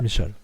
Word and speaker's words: Michal: Ça se prononce Michal.